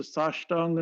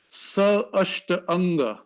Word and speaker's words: Sashtanga: So this is the Sashtanga Namaskar. Sa Ashta Anga. That's the way to pronounce Sashtang.